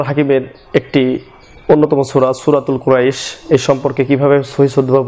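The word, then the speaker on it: قريش: আর যদি অফ করা হয় লিইলাফি কুরাইশ এভাবে, তাহলে এই কুরাইশ এখানে কটা নিয়ে আসা হয়েছে এই কপের বিপরীতে, সুতরাং উচ্চারণের সময় কুরাইশ এরকম হবে। আর শিন যে লেখা রয়েছে কুরাইশিন, এখানে আমরা সাধারণত অফ সময় লিইলাফি কুরাইশ এইভাবে পড়বো, কুরাইশিন পড়বো না।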